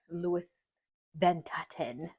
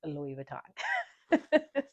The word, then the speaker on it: Louis Vuitton: I have three main points about Louis Ventaten, which is not really the name, but when